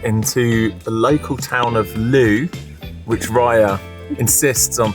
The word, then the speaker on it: Looe: We have finished our breakfast and we are heading out into the local town of Lou, which Rya insists on pronouncing L because it's spelled L O O E.